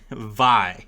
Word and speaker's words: Vi: it is uh because VI is just V you can you so